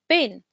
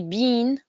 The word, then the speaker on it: been: the past participle of the verb be is bin just a quick uh reminder regarding the pronunciation of bin we don't say bean this is bean like the beans the vegetables